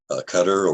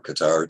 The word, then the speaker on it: Qatar: In a couple of the countries over there, particularly Qatar or Qatar, depending on how you want to pronounce it, and Bahrain, they